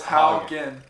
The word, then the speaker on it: Haugen: So it's Haugen. Haugen. Yeah, Okay, so it's like How and then G-E-N. Haugen, yeah.